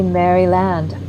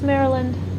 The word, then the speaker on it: Maryland: They say Mryland and I'm like, "Oh, no. It's Maryland." Maryland.